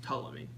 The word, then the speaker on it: Ptolemy: Actually, it's pronounced Ptolemy.